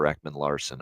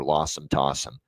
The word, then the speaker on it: Ekman-Larsson: Jonathan Marchessault, him calling him John Masserol is one, and the other is, of course, our guy, Oliver Ekman-Larsson, Oliver Lossum Tossum.